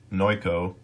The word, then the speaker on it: Noico: at the website here I've been pronouncing this wrong the whole time it's no ko and you can see